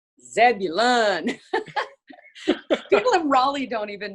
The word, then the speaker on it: Zebulon: raleigh north carolina uh is it called zebulun or zebulon i don't even know how to pronounce it zebulun people in raleigh don't